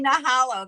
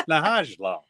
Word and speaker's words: Nahajlo: When you say Nahalo, then you'll say Texas instead of Teja. It's Nahajlo. Yeah. The J is pronounced.